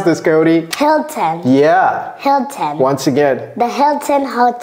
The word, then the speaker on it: Hilton: we pronounce this Cody Hilton yeah Hilton once again the Hilton Hotel the Hilton Hotel hill hill short short Eye short can I bar your